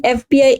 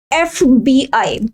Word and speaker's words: FBI: FBI. Though F is a consonant yet we should use N just because of the pronunciation of that particular letter.